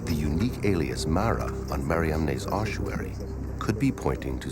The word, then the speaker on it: Mariamne: Magdalene was an apostle, then the unique alias Mara on Mariamne's ossuary could be pointing to something extraordinary.